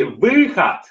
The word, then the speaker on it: выход: So it's two syllables instead of one. When it's вход, it's one syllable. Вход, вход. And then when you say the second word, выход is going to be two syllables.